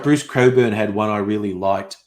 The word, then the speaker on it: Cockburn: worked oh yes stella the name cockburn is actually pronounced coburn um and i learned